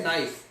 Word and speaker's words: knife: ඊට පස්සේ knife. knife කියලා කියද්දි K එක silent.